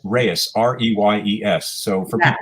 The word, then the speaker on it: Reyes: And Reyes, by the way, it's Americanized or anglicized. It's Reyes, like R-A-Y-S, but actually in Spanish it's Reyes, R-E-Y-E-S.